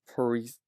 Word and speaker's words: paresis: Paresis.